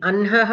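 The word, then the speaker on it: अह्नः: We have to pronounce the nakara first. అన్హహ. ఎప్పుడైనా హకారము నకారము కానీ మకారము కానీ వచ్చినప్పుడు ఫస్ట్ అవి పలకాలి. Like like Janhavi. How we pronounce the nakara first, like that here also anhaha.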